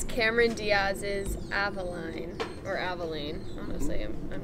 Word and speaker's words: Avaline: And they tell you how to pronounce it. Avaline on the bottle. Avaline. Right? Avaline. Though you would expect if it's Spanish, it'd be Avaline. But anyway, Avaline.